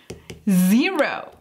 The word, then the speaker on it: zero: El sonido de la Z en inglés es muy diferente al sonido que nosotros producimos en español. Aquí tienes que hacer que el sonido vibre. Z, z, como que si fuera un mosquito. Zero.